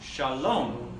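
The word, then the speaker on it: שָׁלוֹם: it m sound so let's sound it out together Oh Shalom Shalom okay next one this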